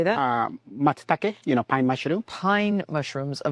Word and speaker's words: Matsutake: Matsuzoki, how do you say that? Matsutake, pine mushroom.